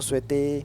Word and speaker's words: souhaite: sont les liaisons à prononciation du verbe souhaiter on ne dit pas so ou su ou sujet on dit je vous souhaite je vous souhaite et